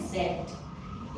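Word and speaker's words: Zett: है वो है जेड सेट इंग्लिश का। एंड जब हम उसको जर्मन में प्रोनाउंस करते हैं इट इज सेट। ओके? जो साउंड आता है वो टी और एस दोनों का साउंड आता है।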